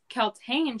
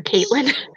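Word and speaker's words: Kaltain: I can understand that Roland is of royal blood, but with Kaltane, she's like just a. That's how you say it. I keep calling her Caitlin.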